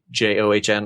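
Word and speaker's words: CaJohns: When I say Cajun, it's spelled like Cajun, but with John, John, so Cajon.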